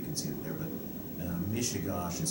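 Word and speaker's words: Mishegas: You can see it there, but Mishigosh is spelled M-I-S-H-E-G-A-S, master.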